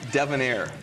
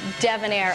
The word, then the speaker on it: Devonair: The pronunciation, you got Eddie Edgar just fine. I know that you're not a local, but it's Devonair. Excuse me, Devonair.